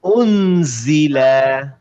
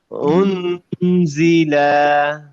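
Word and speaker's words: أُنزِلَ: দেখেন মিমে কিন্তু নাক দিয়ে আসবে, আলাইহিম, আলাইহিম, আলাইহিম উনজিলা, উনজিলা। এই নুনের উচ্চারণটা নাক দিয়ে আসবে, উনজিলা।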